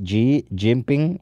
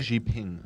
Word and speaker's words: Xi Jinping: Oh, hi, Xi Jinping.